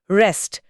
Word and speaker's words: wrest: रेस्ट। डब्ल्यू आर ई एस टी। रेस्ट। इसमें W silent है।